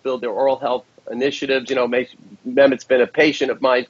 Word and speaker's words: Mehmet: So how do you pronounce his name? Mehmet Oz? Yeah, he's from Turkey, so it's an interesting first name, Mehmet.